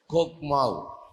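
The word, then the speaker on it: חכמה: கோக்மாவ், CHOKMAH, CHOKMAHன்னு இருக்குது. ஆனால் நம்ம ப்ரொனவுன்ஸ் பண்ணுறது எப்படி பண்ணணும்னா KHOKMAW. எழுதுறதுல வந்து CHOKMAH. ஆனால் நம்ம உச்சரிக்கிறது எப்படி உச்சரிக்கணும்னா KHOKMAW, கோக்மாவ் அப்படின்னு பேர் ஹீப்ரூஸில்.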